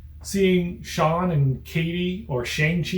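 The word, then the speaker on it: Shang-Chi: sean and katie or shang chi and katie or shanghi in katy if i'm to pronounce it how he pronounces it in the movie their interactions are so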